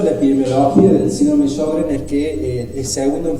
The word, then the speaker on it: Sjögren: Bueno, hoy yo les voy a hablar del síndrome de Sjögren, o Sjögren, como se debe pronunciar.